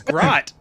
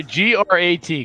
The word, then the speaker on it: Grat: I have you as Grot. Oh. G-R-A-T, Grat.